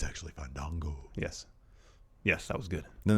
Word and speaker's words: Fandango: It's actually Fandango.